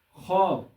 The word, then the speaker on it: خواب: لیکن تلفظ یہ ہوگا۔ اس طرح خواب، خ واو الف ب، یہاں پر خ الف ب یعنی تلفظ یہ ہوگا خواب۔ واو یہاں پر سائلنٹ ہے، تو اسی لیے اس کو بھی زائد واو کہا جاتا ہے، لیکن مطلق